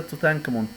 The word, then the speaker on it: Tutankhamun: من كان اسمه بالمصري توت عنخ آمون بالإنجليزي ينطق كده توتانكامون.